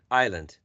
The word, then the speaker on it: island: word Island exactly so Island it's not pronounced exactly the letter s is not pronounced Island perfect or in the